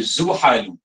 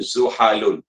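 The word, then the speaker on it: زحل: Okey, dibacanya Zuhalu. Okey, jadi Zuhalu. Bukan Zuhalun.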